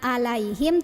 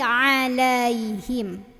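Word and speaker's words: عليهم: gitu anamta alaiim Nah di sini masih ada yang suka baca alaihim padahal ini huruf Ain bukan huruf hamzah Jadi bukan alaihim tapi alaihim alaihim gitu nah sampai deh kita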